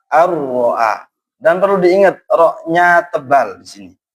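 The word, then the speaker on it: أن رآه: Maka cara membacanya walaupun ada nun tidak boleh an ro'ahu, tidak boleh, tapi harus ar-ro'a, ar-ro'a.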